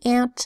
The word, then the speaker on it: aunt: my daughter's Aunt Mary and aunt spelled a UNT usually a you says oh but an ant it just makes a short a sound ah ah ant okay